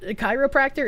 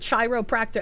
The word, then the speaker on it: chiropractor: The CH in chiropractor is pronounced like a K. So, you know, just for you, I'm going to pronounce it chiropractor every time now.